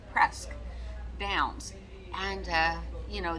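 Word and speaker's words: Presque: casino called press downs it's p-r-e-s-q-u-e but they pronounce it press downs and uh you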